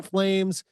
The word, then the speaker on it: PFlames: And everybody remember, the P is silent with this guy, but but he is, this guy is the real deal. So go see Justin Flames, and you know, just